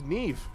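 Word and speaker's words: Niamh: Her name is Ne. You know it's an Irish name when none of the letters pronounced the way they should.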